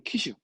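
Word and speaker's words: 旗手: 경기할 때 깃발은 사람 있잖아요 이걸 기수라 그러잖아요 발음은 티슈 티슈 기수는 키슈 특별하게 시험 쩔어는 걷기 정도입니다 그리고 훈도 가능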